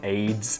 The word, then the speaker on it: Ayds: Did you really call it Ayds Slimming Candy? I mean, it's spelled A-Y-D-S, but I mean, there's also something else called Ayds.